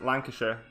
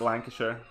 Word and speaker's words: Lancashire: How do I pronounce Lancashire? It's Lancashire. I don't know if I pronounce it right, obviously, because I have a fairly thick accent myself. But as far as I can tell, it's Lancashire.